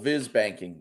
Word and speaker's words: Viz Bank: So, you are the founder and CEO of is it Viz Bank? VIS? Is my pronouncing that right? Think like visual, Viz banking.